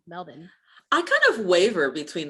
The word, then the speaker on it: Melbourne: like what i'm like that's how it's spelled hello but i actually like melbourne like m-e-l-b-i-n melvin i kind of waver